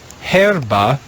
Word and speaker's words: herba: the blue row the first word is two syllables herba means plant or grass the next word in